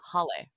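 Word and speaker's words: Hale: And when I saw agent hail, hail is spelled h a l e, which is the Hawaiian word for house, but it's pronounced hle.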